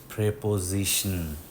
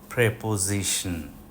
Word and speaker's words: preposition: উচ্চারণটা প্রেপোজিশন। Preposition.